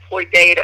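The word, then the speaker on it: Floydada: that i mentioned plainview floyd floyd data actually is how it's pronounced there's a they're on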